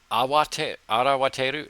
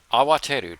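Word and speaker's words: 慌てる: Is it arawateru? No. Kawateru? 慌てる。そんなに慌ててどこに行くの？ Awateru, to be flustered, to hurry.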